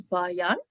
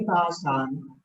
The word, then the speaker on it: Bhajan: It's taught by yoga, and you'll have to help me with the pronunciation here, is Bayan. Yogi Bhajan.